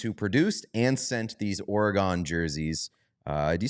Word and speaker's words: Oregon: It is Oregon, not Oregon. gun. It's like it's more of a G-U-N-G-I-N sound.